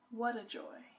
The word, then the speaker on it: Wuta Joy: So when I asked this proprietor, what does Wuta Joy mean and why did she name her little bakery Wuta Joy? She told me that it's pronounced what a joy. It's not a pun, it's misspelled.